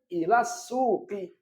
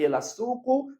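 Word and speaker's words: إلى السوقِ: Maka bacanya ilas suki. Bukan ilas suku, bukan ilas suko. Tapi ilas suki.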